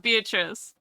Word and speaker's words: Beatrice: That is the Italian pronunciation of Beatrice. Beatrice. Well, sorry, Rice. Beatrice. Yeah. The CE thing is constantly a CHE in Italiano.